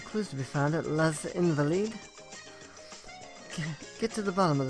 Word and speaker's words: Les Invalides: Les Invalides.